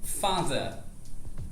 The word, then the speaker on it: father: Ao invés de falar father com o R bem pronunciado, você vai falar simplesmente father. Father.